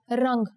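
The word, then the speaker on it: रंग: Let's check out the word for color, rang. Here the Anuswar makes it sound like the ng in the English word song.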